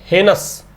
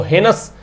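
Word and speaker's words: heinous: कह रहा है while convictions in द हेनस, इसको हेनस एंड हीनस दोनों प्रोनाउंसिएशन है।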